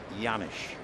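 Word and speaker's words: Janish: second base two out yanish trying to pick it up B spells had name name j a n i h and the J is not produced or pronounced yanish right hand hitting catcher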